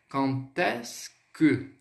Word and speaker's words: quand est-ce que: Lembrando, esse QU, esse QU, o som do Q no francês é som de K. Então, quand est-ce que.